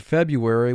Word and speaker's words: February: caused political difficulty and notice in the word february we have a silent r and when we have